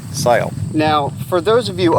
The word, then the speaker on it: Segl: the amok siyul and yes that's spelled SE GL but it's not seagull or cycle it is sale now for those of